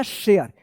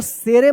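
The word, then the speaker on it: share: तो क्या हो गया शेयर इसको शेर मत पढ़िएगा या सारे मत पढ़िएगा ठीक है ना ये शेयर ए मत पढ़िएगा। ये लास्ट वाला ई जो है ना साइलेंट रहता है।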